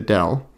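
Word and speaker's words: nabla: this upside down triangle written as an upside down triangle and pronounced dell okay this one's also pronounced dell I thought this was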